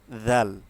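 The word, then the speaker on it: ذال: যেমন দাল দাল দা জাল। জাল হচ্ছে আমরা যখন উচ্চারণ করি জাল হচ্ছে সবসময় নরম থাকবে। জালের উচ্চারণ সবসময় নরম হয়। যেমন জিহ্বার আগা থেকে উচ্চারণটা আসবে। যেমন জাল জাল একদম নরম হবে।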